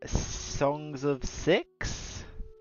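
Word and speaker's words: Songs of Syx: And we're going to be playing a game called Songs of Six, but it's spelled SYX. 6.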